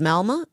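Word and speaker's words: Malmö: Peter Sweden said 54% of the population in I think it's pronounced Malma in Sweden now have a foreign background.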